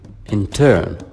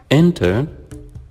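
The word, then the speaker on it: intern: here is a noun it can be used as a verb but with a different pronunciation it will be in turn we change the stress so as a noun it's enter as a verb and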